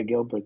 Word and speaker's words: Gilbert: this center field there what's it is it Gilbert am I saying it right yeah Gilbert the uh the left-handed left Lefty swinger he's